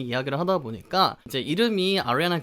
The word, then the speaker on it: Ariana: Ariana 아시겠죠? 아리아나를 조금 그 R 발음을 살려서 Ariana 라고 발음을 하고요, 뒤에 이 발음, 뒤에 커피컵 종류인 Grande 라고 발음합니다.